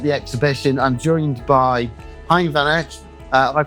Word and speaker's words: Hein van Eck: So on tour, on set, here at the exhibition, I'm joined by Hein van Eck. Have I pronounced that correctly, Hein?